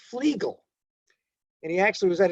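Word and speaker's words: Flegel: Now this is one of the this is a mispronounced uh disease. Everybody calls it flaggels, but it's actually his name is pronounced flegal.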